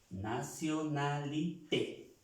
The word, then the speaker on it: nationalité: Nationalité. Vemos que esa E tiene acento, se pronuncia la E.